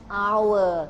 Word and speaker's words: hour: อ่าน แล้ว ชั่วโมง and Our ใช่ ไหม คะ ชั่วโมง คือ Our h o u r แต่ S หนู ไม่ อ่าน ออก เสียง ต้อง ใช้ แอน ด้วย